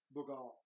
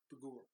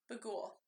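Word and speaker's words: Bughuul: a Babylonian deity called Bugal. Bugal? No. Bugul. Bugul. There you go. I was Yeah. like, why can't I remember how to say it now? Yeah, it's Bugul.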